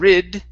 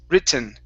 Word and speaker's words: written: okay um uh the the the thing is is that after the T if you have a vowel and an e or and an N you cannot say rid it's WR okay so it's mostly